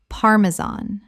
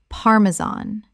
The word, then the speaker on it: Parmesan: Common mispronunciation. Parmesan. Correct pronunciation. Parmesan. The stress is on the first syllable and the final an sounds like the word tan.